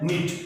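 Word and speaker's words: knit: Example है निट, यहां पर एन से पहले के लिखा हुआ है तो क्निट नहीं है ये निट है।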